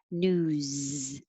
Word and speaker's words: news: And number 7, it has voicing, so it sounds like a Z. News.